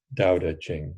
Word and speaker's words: Tao Te Ching: us like Tao teachings I know that I've been told that pronounciation is a little different it's something closer to daodejing so but I'm sure